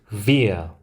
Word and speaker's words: wir: 이 W가 V 발음이 나게 됩니다. 그래서 이 W도 독일어 알파벳으로는 V라는 이름을 가지고 있습니다. 단어를 하나하나 읽어보겠습니다. Wir, wir.